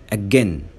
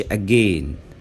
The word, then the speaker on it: again: احنا بنقول said، ما ينفعش نقول said. says، ما قولش says. again، ما قولش again.